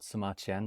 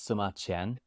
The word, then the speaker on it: Sima Qian: His name is Sima Qian, which rhymes with Sima Tian, and I like history, so that's why I chose myself that name.